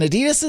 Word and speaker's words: Adidas: Adidas' CDO, or as they say in Europe, and it probably is the correct pronunciation, Adidas, said the company was considering selling